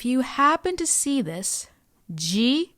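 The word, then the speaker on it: ヂ: But if you happen to see this, ji is pronounced with a J sound and zu is pronounced with a Z sound.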